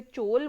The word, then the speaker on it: चोल: तो आज हम हमारे वैसे उसे चोल बोला जाता है। एक ए हम इंडियंस हैं। हम एक्स्ट्रा लगाते हैं। That is we always called as चोलाज़। हम उसे चोलाज़ ही प्रोनाउंसिएट करते आ रहे हैं ट्रेडिशनली। अदरवाइज इसका नाम चोल डायनेसिटी होता है। चोलाज़ नहीं होता है।